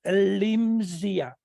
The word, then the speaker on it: Elimsia: I repeat, Elimsia. That's correct? Yes. Okay, Elimsia.